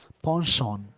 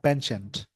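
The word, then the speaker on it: penchant: जैसे British English में इसको बोलते हैं पॉन्शॉन, ब्रिटिश इंग्लिश में इस वर्ड को बोलते हैं पॉन्शॉन। और यही अमेरिकन इंग्लिश में जाएंगे, जिसका प्रोनाउंसिएशन हो जाता है पेंचेंट, तो दोनों चीज़ें बोलते हैं। तो पॉन्शॉन होता है ब्रिटिश में, और पेंचेंट ये अमेरिकन इंग्लिश में बोलते हैं, पेंचेंट, इसको याद रखेंगे।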